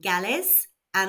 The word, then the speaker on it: galesa: pattern with the stress the stress falls where the accent is with galis and on the second to last syllable of galisa.